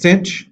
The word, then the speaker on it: sinh: Sine hyperbolic, usually it's pronounced sinh.